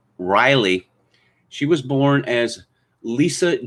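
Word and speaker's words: Rielle: was a woman called riley hunter it's spelled r-i-e-l-l-e but of course pronounced riley she was born as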